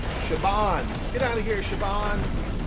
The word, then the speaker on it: Siobhan: I was working on Shioban. Then, yeah, so that name, you pronounce that name Siobhan, I think. Shaban.